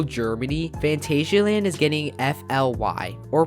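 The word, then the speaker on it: F.L.Y.: located in rural germany fantasia land is getting f-l-y or pronounced as fly this will be a vacoma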